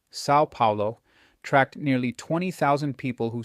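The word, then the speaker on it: São Paulo: Researchers at the University of Sao Paulo, pronounced Sao Paulo, tracked nearly 20,000 people who started day trading equity futures.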